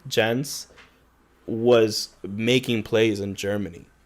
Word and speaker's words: Jens: My mom says my name in Spanish like it ends with a G, like Jeng.